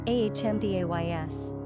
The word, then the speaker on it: Amadeus: number of syllables four ranking popularity not applicable pronunciation ahmdays simple meaning love God characteristics of Amadeus inventive